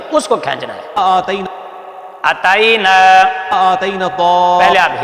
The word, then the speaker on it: آتینا: مد اصلی ہوتا ہے اس کو کھینچنا ہے آتینا اتینا آتینا پہلے آپ ہجے سنیں جوڑ سنیں اس کے مطابق پھر